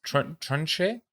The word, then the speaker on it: Tunche: Tunche? Tunche. It's almost like touche, but with a U.